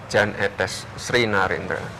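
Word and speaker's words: Jan Ethes Srinarendra: Yan, Jan, atau apa? Etes, Etes, Sri Narendra. Yang betul bagaimana? Jan Etes Sri Narendra.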